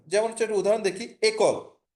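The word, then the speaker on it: école: এই একলটা মানে হচ্ছে স্কুল, ইংলিশ হচ্ছে স্কুল বা বাংলা হচ্ছে বিদ্যালয়, ই এর উপরে অ্যাকসেন্টটা বসে হচ্ছে একল।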